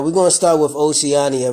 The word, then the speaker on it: Oceania: Now, we're going to start with Oceania, right? Now, you pronounce this Oceania.